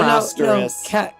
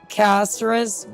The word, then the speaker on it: Castorice: No, Castorice. Castorice. You're pronouncing it wrong.